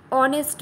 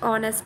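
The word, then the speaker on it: honest: যেমন দেখো আমরা অনেস্ট ম্যান বলছি লিখছি আমরা এইচ দিয়ে স্টার্ট করছি উচ্চারণ করছি কি ও দিয়ে ও এর মত উচ্চারণ করছি অনেস্ট ম্যান তাই না সেইজন্য উচ্চারণের জন্য এখানে এটা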